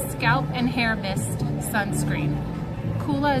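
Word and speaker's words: Coola: and hair Mist sunscreen koola is spelled c o o l a like cool uh and then it's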